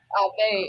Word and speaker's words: Aave: Somebody in the chat was saying Ava. I was like, that's why I said Aave. Nah, you was right. Aave.